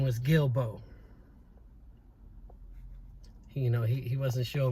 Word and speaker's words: Guillebeaux: His last name was Guillebeaux. You know, he wasn't sure because of the way it was spelled, Guillebeaux, or something like that. But only that those that really know that was his name, Guillebeaux.